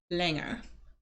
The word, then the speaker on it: länger: Okay, so long is lang, longer, länger. So you can hear the proper pronunciation.